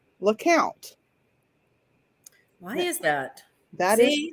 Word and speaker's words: Lecompte: think would be pronounced Lecompte. In fact, it is not pronounced Lecompte in the town. It is pronounced LeCount.